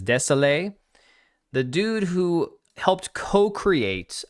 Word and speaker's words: Désilets: This game is made by Patrice, I believe the pronunciation for his last name is Desailly, the dude who helped co-create Assassin's Creed.